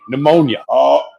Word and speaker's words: pneumonia: of the p word the p word silent P pneumonia the toxicology report came